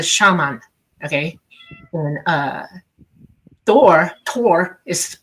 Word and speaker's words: Thor: And uh Thor Tor is pronounced to.